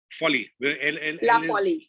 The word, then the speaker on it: Folie: uh shut first question is it laughs folly or four yeah folly so the l is to be pronounced so the l is